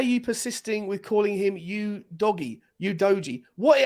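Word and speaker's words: Udogie: pirate off the ball that's how you say it it's you doggy yeah but you doggy perfect you doggy here's your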